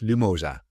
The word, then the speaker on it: Lumosa: And Yaris, you are currently the CMO of Lumosa. Is that correct how I pronounce that? Absolutely. Perfect. Lumosa.